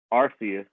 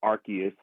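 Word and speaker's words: Arceus: Um, I also have purchased um Pokemon Legends Arus or Archus depending on how you pronounce it.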